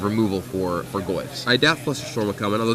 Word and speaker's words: Flusterstorm: I doubt Flusterstorm will come in, although it's always cool to see that commander card make an appearance. Is it Flusterstorm? I thought it was Flutterstorm. It's Flusterstorm.